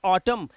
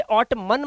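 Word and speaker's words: autumn: एन है एन है और उसके पहले एम आया हो तो एन का उच्चारण नहीं होता यहां पर देखिए एन से पहले एम है एन से पहले एम है और यहां पर एन से पहले एम है तो यहां पर ऐसे वर्ड में एन का उच्चारण नहीं करेंगे सिर्फ एम तक ही इनको आप पढ़ सकते हैं जैसे इसे पढ़ेंगे ऑटम इसे ऑट मन मत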